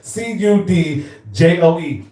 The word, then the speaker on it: Cudjoe: Then the real Cudjoe, the real, spelled like how it sounds, Cudjoe.